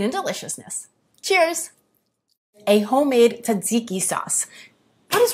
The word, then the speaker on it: tzatziki: A homemade tzatziki sauce. What is wrong with you? You just said tzatziki. You're saying tzatziki. Because there's an extra T in there. You're saying it wrong. You're silent. Tzatziki.